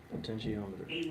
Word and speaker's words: potentiometer: many different things and how do you pronounce that real quick potentiometer potentiometer okay potentiometer was right I'm sorry yes a